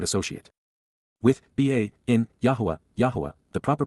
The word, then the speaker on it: Yahowah: Yahwa, the proper pronunciation of the name of Eloha, God as directed in his Torah, teaching regarding his higher existence in our shalom restoration.